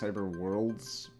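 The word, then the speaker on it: Cyberworldz: z is actually pronounced cyber worlds but they have a z at the end because you know style points and it's capitalized um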